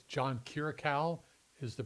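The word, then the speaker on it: Kiriakou: John, I believe it's John Kiraau is the pronunciation of his name.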